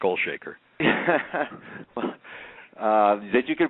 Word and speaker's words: Olshaker: guest author and uh documentary and filmmaker Mark olshaker uh welcome to the program and thank you